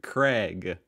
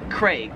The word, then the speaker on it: Craig: In Australia, they pronounce it Craig. They really... Craig. Besides that A, Craig. Whereas in America, we just kind of pronounce that name as like as if it had an E, like C-R-E-G, Craig.